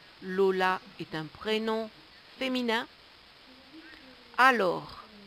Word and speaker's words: alors: Alors, alors, nous voyons bien qu'il y a un S à la fin que l'on ne prononce pas.